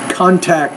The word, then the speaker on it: contact: little bit trouble, maybe word stress, contact. So in this case, it's a noun, not a verb. It's a verb, contact. You need to contact them, or I will put stress on that first syllable, contact.